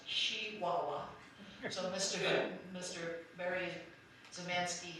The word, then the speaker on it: Chihuahua: a business in Chihuahua which the local newspaper was careful to say should be pronounced she Wawa so Mr Mr very